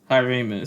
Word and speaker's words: hyraemous: The introduction, and it's Hyramus, so you can just call me Hy-ray.